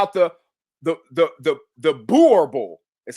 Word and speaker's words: Boerboel: about the about the the the the the borable is how she said it's pronounced.